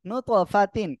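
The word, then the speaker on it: نُطْفَةٍ: বানান করে তাদুইজের তিন তাহলে কি হলো নুতফা তিতিন নুতফাতিন এভাবে উচ্চারণ করবেন ইনশাল্লাহ জীবনে ভুলবেন না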